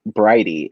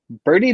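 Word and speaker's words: Bridie: notes and i was just like oh it's pronounced brighty i was just like okay because like when i was first like looking over and i was just like oh birdie divine what an interesting name i wonder if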